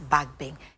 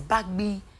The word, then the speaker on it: Bagbin: and he said yeah you don't pronounce the name as back Bing is B Bing so I'm like I really okay when I meet him one day I'll let him pronounce his name for me so I need that one from you B Bing uhhuh b the ba together then the GB i n okay ba B okay